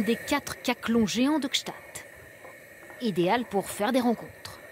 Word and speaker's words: Gstaad: Gstaad. Oui, il y en a beaucoup qui prononcent mal. Oui. Gstaad. Gstaad.